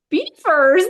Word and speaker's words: Belvoir: Anyway, she pronounced it Belvoirs. I was very relieved. But the real castle in England, they do say it beaver.